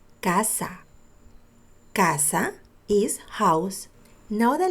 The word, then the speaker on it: casa: Here, the letter C sounds like a K because next to the C is an A. Casa.